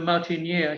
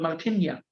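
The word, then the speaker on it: La Martinière: to go to the martiner he didn't know at all what it is because my pronunciation was wrong in L now it was called Martina oh you want to go to the Martina yes sir and um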